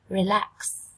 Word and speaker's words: relax: Relax. Relax. Trọng âm dâm tiết thứ 2 các em nha.